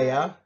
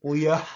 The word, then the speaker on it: Leah: Every time that Leia. I get called Leia all the time. Leah.